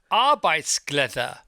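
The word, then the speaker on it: arbejdsglæde: Arbeitsglæde.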